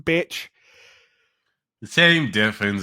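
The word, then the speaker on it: Bitche: They named the name a bitch. It is written with an E at the end, though. And It's it's French, but it doesn't matter that it's pronounced bitch.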